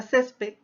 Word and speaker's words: césped: Si analizamos la palabra césped, la mayor fuerza de voz o su sílaba tónica está en la antepenúltima sílaba. Por lo tanto, ahí estamos frente a una palabra grave.